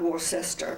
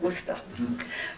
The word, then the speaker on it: Worcester: So we finally get into Worcester, and that's the way they pronounce it there. Not Worcester, but Worcester.